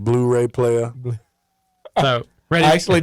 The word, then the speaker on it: Blu-ray: you pronounce that range so that is actually pronounced Blu-ray what is it it sounded like you said blue ray so I'm gonna go